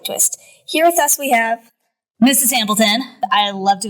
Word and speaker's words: H: Last, how do you pronounce H in German? Osh? The correct answer is ha.